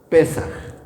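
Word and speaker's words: פסח: Y la primera, que está en el versículo 4, es precisamente la fiesta de la Pascua, que en hebreo se dice Pesaj.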